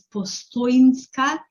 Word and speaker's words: Postojnska: The J is not pronounced as J, it's pronounced as Y. Okay, so it's Postoinska Yama.